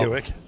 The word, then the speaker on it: Hewitt: Hewitt. It rhymes with Buick.